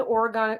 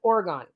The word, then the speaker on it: Oregon: east of Canada where we always said Oregon well it's Oregon and Le going no it's Oregon Oregon it's like no